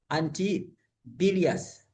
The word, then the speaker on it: antibilious: Antibilious. Antibilious, the way I've pronounced it, that's the way it's supposed to be.